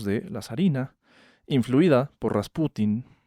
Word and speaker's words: Rasputin: A este señor Papú lo va a reemplazar un místico siberiano, el famosísimo Grigori Rasputin con acento en la U.